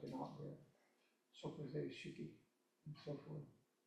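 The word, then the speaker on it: 色: fuli, ku, fuli, shiki, shiki is a double syllable in one beat. And typically the last I in that is not shiki, it's not an emphasized, it's shiki, it's more like an out breath.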